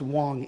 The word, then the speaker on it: Wang: the name of Fay Wong it's actually spelled w NG but it's pronounced Wong in China and he admits an